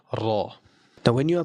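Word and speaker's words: ر: The other part of the tongue is going to stick up towards the pallet here. and the sound is going to come out from the center. So that is the pronunciation of raw.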